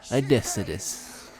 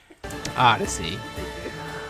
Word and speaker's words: Odyssey: I posted on his channel Assassin's Creed Odysseus. Say it right. Odyssey.